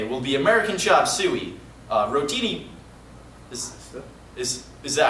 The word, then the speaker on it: rotini: The lunch special for today will be American chop suey, rotini... Is that how you pronounce it, though?